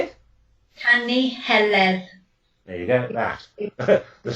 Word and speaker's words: Canu Heledd: is called the Song of Helen, or the Canu Heleth, I think it's pronounced in Welsh, and it's a story. How do you say it? Canu Heledd.